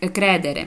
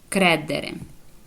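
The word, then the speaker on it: credere: пічино добре дивіться далі Коли наша буква ч читається як буква к коли після неї йде приголосна буква наприклад кридери ІІ Ой кредери вибачте кредери та от вірите іоі кредо я тобі вірю Та кредери вот зразу к і р кредери та при голосна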